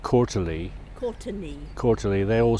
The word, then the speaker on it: Courtenay: So you pronounce it Quarterly.